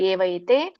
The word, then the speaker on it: ಏವೈತೆ: ಉದಾರಾಹ ಉದಾರಾಹ ಸರ್ವೇ ಅಂದ್ರೆ ಸರ್ವ ಏವೈತೆ ಅಂತ ಹೇಳ್ತಾರೆ ಸರ್ವ ಏವೈತೆ ಏವೈತೆ ಬಿಡಿಸಿದಾಗ ಏವ ಏತೆ ಅಂತ ಆಗುತ್ತೆ ಬಟ್ ನೀವು ಕೂಡಿ ಹೇಳಿ ಏವೈತೆ ಜ್ಞಾನಿ ಜ್ಞಾನಿ ತ್ವಾತ್ಮೈವ ತಕೆ